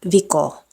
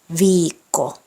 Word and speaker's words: viikko: Pronouncing double consonants correctly is crucial in Finnish. Treat it like it's a matter of life and death, because it is. So it's not siten, it's sitten, not milloin, milloin, not viko, viikko.